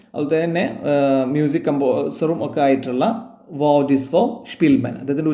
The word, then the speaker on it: Szpilman: ഒരു ജൂതനും ആയിരുന്നു അതുപോലെതന്നെ മ്യൂസിക് കംപോസറും ഒക്കെ ആയിട്ടുള്ളവർ സ്പിൽമാൻ അദ്ദേഹത്തിന്റെ ഉച്ചാരണം പേര് വായിക്കേണ്ടത് വഡിസ് ഫോർ സ്പിൽമാൻ എന്നുള്ളതാണ് നിങ്ങൾ